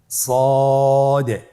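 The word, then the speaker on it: صاد: সদ হারাফটি পুরো হরফ মোটা হরফ উচ্চারণ ক্ষেত্রে মোটা করে পড়তে হবে এবং উচ্চারণ করার সময় তিন আলিফ টেনে পড়তে হবে।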